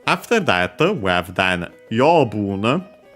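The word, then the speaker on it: 養分: Yobun is a Chinese compound, which you can easily tell also based on the pronunciation. Accent on the first mora, this one, so the second most common accent for those.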